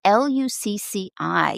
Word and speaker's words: Lucci: I think it's Lucci. Yeah, I think that's how it's pronounced.